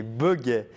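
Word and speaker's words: boguets: Les buggets.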